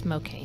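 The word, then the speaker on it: Mokane: Oh, Mocaine. That's not bad. No, it's kind of like Spokane, but it's Mocaine. Mocaine. Okay. In Mocaine, Missouri. Mocani or something, because I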